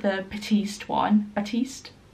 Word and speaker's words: Batiste: like the Batiste one Batiste and that's how you pronounce it I think it's like